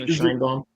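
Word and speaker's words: Schoenbrun: Like the director is a trans lady by the name of Jane Shinbaum or however you pronounce her name. But she Scheinbaum.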